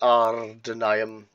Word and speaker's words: Ardûnaim: The problem that we do face as the Ardûnaim, I've got to roll your R's, is that our culture is so minimal in this part of the world.